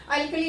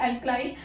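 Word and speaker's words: alkali: एल्कली या एल्कलाई भी बोल देते हैं, इनका प्रोनाउंसिएशन एल्कलाई।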